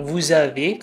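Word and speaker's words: vous avez: namanya jadi misalnya nih kalau kamu mau bilang vuzaave kan tulisannya Ada dua kata ya vu dan Ave Nah itu dibacanya vuab gitu ya jadi kayak ada liezong antara huruf konsonan yang di depan dan vokal yang di belakang dan gitu juga kalau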